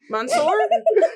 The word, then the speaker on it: monsieur: Monsieur? Kelly, say monsieur properly. It's monsieur. Monsieur.